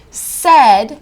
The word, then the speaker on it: said: Said has three sounds. S, e, d. The first sound is s. And that's spelled as I expect with an S. No problem there. Then our middle sound is eh. That's spelled with an AI.